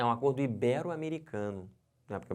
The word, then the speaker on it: ibero: falar ídolo híbrido tá errado o certo é ibero finalizando essa palavra aqui que o pessoal fala